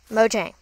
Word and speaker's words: Mojang: And it's pronounced Mojang, according to them. Mojang? Mojang.